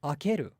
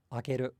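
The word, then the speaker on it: 開ける: We think shimeru, okay, then it must be akeru as well. But it's not. It's shimeru and akeru, akeru, akeru. So akeru is another one of these examples of verbs in Japanese that doesn't have a pitch accent at all.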